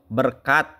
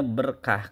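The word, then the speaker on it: بركة: serapan dari bahasa Persia misalnya adat harusnya ada karena ta marbut berkat harusnya ber kah Karena ta marbutoh hajat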